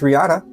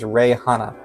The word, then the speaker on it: Hana: Then there's Rihanna, or actually her name is Hana. I forgot that I kept mispronouncing her name. Her name's Hana, and she is from the Caribbean, which is cool.